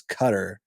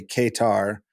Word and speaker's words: Qatar: what's so interesting is how many different pronunciations of qar there is like I feel like the old pronunciation that uh westerners had was cutter which is not which is not correct yeah and then you know you have people who just straight up say Kar I believe cofy said called